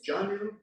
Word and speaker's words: Janu: toward that foot it's Janu Shas Janu is you can hear it sounds kind of like G if you pronounce okay because that's where it